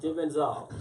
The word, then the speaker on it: Jay Benzol: Is that how you say it? Jay Benzol. Jay Benzol. Yes.